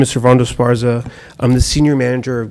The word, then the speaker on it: Esparza: Yes, hi, Servando Esparza. Pronounce Can your you hear last me? name for me again? Servando Esparza.